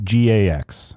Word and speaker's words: Gygax: It's Gygax.